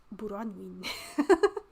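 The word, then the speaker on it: Bronwyn: But when I write it as my name, it's pronounced Buranwin.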